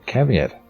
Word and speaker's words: caveat: despite spelling what for the record okay oh caveat it's pronounced call like Raven call V at caveat